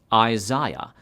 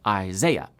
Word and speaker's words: Isaiah: Brits say Isaiah, while Americans say Isaiah. Fine, continue.